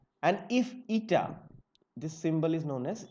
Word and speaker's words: eta: Now let me write the symbol name because by pronunciation this may not be very clear. I am calling this to be eta, E T A.